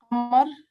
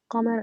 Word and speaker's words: Qamar: You say Qa. This is Qamar, Qamar, Qa, Qa, Qa, Qamar, Qasim, right? Qa and Ka, Qa, Ka, Qa, Ka. So you need to get the difference between these two.